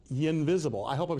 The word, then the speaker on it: Ynvisible: pronunciation of the name perfect company name invisible invisible you interactive invisible interactive spelled with a lie so first of all